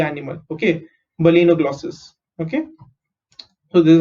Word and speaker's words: balanoglossus: B is B, L is lay. Okay, not la, it's lay.